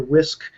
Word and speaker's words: WSQ: Even though it's pronounced whisk, it's WSQ. And it's just a simple